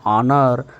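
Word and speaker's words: honour: ರೀತಿ ಆನ್ ಅವರ್ ಆನ್ ಆನರ್ ಈ ಎರಡು ಶಬ್ದಗಳಲ್ಲಿ ಎಚ್ ಸೈಲೆಂಟ್ ಆಗುತ್ತೆ ನಾವು ಪ್ರೊನೌನ್ಸಿಯೇಷನ್ ಅನ್ನ ಮಾಡಲ್ಲ ಉಚ್ಚಾರಣೆ ಮಾಡಲ್ಲ ಹಾಗಾಗಿ ಎಚ್ ಅನ್ನೋದು ನಮಗೆ ಕೇಳಿಸಲ್ಲ ಹಾಗಾಗಿ ಸೌಂಡ್ ಯಾವುದು ಕೇಳಿಸುತ್ತೆ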